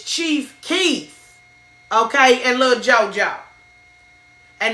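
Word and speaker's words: Chief Keef: I told you, my daughter laughed at me cuz after I got off the feed, y'all, she told me, "You said the name wrong. It's Chief Keith."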